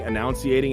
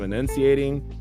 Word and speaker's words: enunciating: mispronouncing words and like I was saying annunciating instead of enunciating I was just I